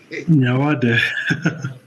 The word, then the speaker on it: Nyawade: How do you pronounce it? Nyawade comes from the Luo community.